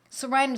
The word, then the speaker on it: Psorinum: Sorinum is spelled P-S-O-R-I-N-U-M. P like in pneumonia.